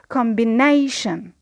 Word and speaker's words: combination: So combination, the stress on nay, and because we have two syllables before the primary, we need to add another level of stress, which is secondary stress, and we place it on com below the line. So we say combination. So we have finished our lesson.